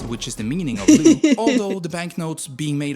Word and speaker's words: leu: The Romanian leu still changes hands. Lau! Oh, God. Leu. The proper way to say it.